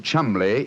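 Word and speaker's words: Cholmondeley: Being an American, he had no reason to know that the name Chumley is in no way pronounced the way it is spelled.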